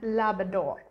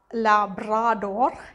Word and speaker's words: Labrador: is newfoundland newfoundland and labrador it's not um la brador it's labrador so it's newfoundland newfoundland